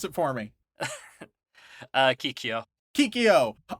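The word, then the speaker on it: Kikyō: third most important character uh kikio kikio Sean pronounce it for me uh Kikyo kikio all right so we meet kikio who's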